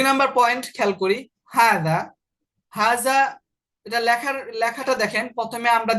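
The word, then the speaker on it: هذا: মানে এটা লেখা হবে এভাবে, কিন্তু উচ্চারণ হবে হাজা, অর্থাৎ হার পরে একটা আলিফ থাকবে। তাহলে হাজা শব্দটা লেখার মধ্যে হার পরে আলিফ থাকবে না, তবে উচ্চারণের মধ্যে হার পরে কি থাকবে, আলিফ থাকবে।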